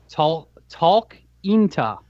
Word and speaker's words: Talkeetna: The mayor of an Alaskan town named Talkeetna. Spell it out because we want to make sure you're saying it right. Talkeetna. Spell it.